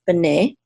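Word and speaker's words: בְּנֵי: is Sons of plural sons of bene okay and the accent is on the second syllable because this is a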